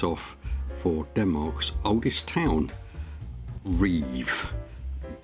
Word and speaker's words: Ribe: for Denmark's oldest town, Ribe. That's what we were told is the pronunciation, either Reef or Reeve, depending on if you live there or not.